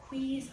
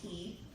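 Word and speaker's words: Qi: Queez, I hate that he pronounces it. I always say Key, but Mr. Dave said Quee.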